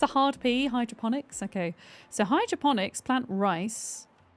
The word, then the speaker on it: hydroponics: Is it a hydroponics or hydrophonics chat? How do I pronounce it?